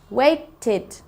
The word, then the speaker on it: waited: Waited. It's the id sound at the end.